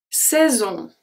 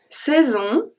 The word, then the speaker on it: saison: Saison. The S at the end is not pronounced.